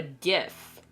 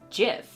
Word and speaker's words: GIF: I don't know and it's pronounced GIF I don't care what anybody says g f GIF graphic uh Imaging uh function or something like that gif if it gif is the peanut butter I should have used the rant thing for that but anyway anyone who says JF is wrong it's like I